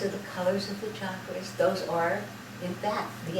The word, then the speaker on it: chakra: ago but um she she said it's a Sanskrit word and the correct pronunciation is chakra chakra so you know but